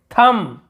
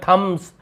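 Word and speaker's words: thumb: थम, थम यानी अंगूठा, हमने पहले थम ऐसे बोला थम्स, लेकिन थम्स अप ऐसे, थम नहीं होता, थम ये होता थम, अंगूठा।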